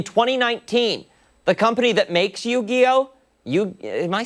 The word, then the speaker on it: Yu-Gi-Oh!: In 2019, the company that makes Yu-Gi-Oh!